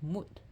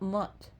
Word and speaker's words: Mut: No, it's Mut. Not Mutt, like a dog. Like a mixed breed dog, a mutt. Mut.